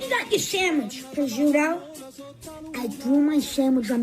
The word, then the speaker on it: prosciutto: call it prosciutto because I don't know how to say it. It looks like Prosciutto. That's prosciutto. Prosciutto. No, it's prosciutto.